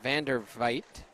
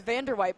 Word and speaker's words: Vander Vite: it for us one I used to think it was Vander white but I I think I asked her one time and I think that was wrong so I actually don't remember